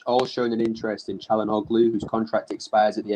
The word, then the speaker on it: Çalhanoğlu: Look, the G in Hakan Çalhanoğlu's surname is silent, bro. You don't pronounce the G.